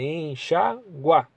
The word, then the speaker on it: enxaguar: que tá errado é enxagua entenderam enxagua por quê Porque enxagua guá é um tritongo entendeu são três vogais que T que ficar na mesma sílaba tudo bem averiguar não é